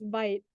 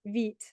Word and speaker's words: Vite: And at first, I thought it was pronounced Vite, but it's not. It's pronounced Vite, which is French for fast, that helped me remember how to pronounce it.